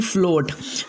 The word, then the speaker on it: float: अगर ओ के बाद ए आ जाए तो ए क्या रहेगा? साइलेंट रहेगा। जैसे कि पहला वर्ड्स है बोर, BOAR बोर, यहाँ ए साइलेंट है।